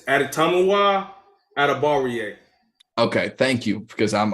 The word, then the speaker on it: Adetomiwa Adebawore: It's okay, It's Adetomiwa Adebawore.